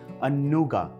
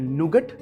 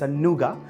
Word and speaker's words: nougat: Well, internationally the same recipe is also called 'Anuga' some people also call it as ' nougat' but that's wrong, it's 'Anuga' or a Praline.